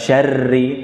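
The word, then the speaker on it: شَرِّ: Kaidah pengucapan ro bertasydid adalah membaca tanpa mantulan. Syarri, tidak. Bukan syarri, tapi seakan-akan ada dua ro. Ro pertama sukun, ro kedua berharokat.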